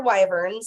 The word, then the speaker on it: wyvern: And like I said, these are lunar wyverns or wyverns. I don't know how it's pronounced. It's like a mini dragon. They're wyverns. It's wyvern, okay.